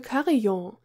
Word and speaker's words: carillon: Fittingly, Chibius has this bell with which she can call him, the Crystal Carillon. The word “carillon” for chimes also exists in English, but the pronunciation sounds more French to me.